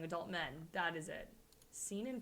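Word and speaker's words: seinen: men that is it seen in pronunciation that sounds like semen and it's kind of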